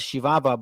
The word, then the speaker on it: Chihuahua: The Spaniards called the land of Ram Uri Chihuahua, pronounced as Shivava by the natives themselves.